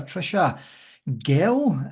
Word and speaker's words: Tricia Gehl: delighted to be joined by coach and writer Trisha Gil is that the best way to pronounce it I nailed it nailed it you're